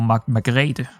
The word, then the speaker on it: Margrethe: No, that is still Margaret, or Margrethe. That's probably how you would pronounce it in Danish.